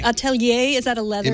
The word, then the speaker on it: Atelier: Is that how you pronounce it? Atelier. Atelier.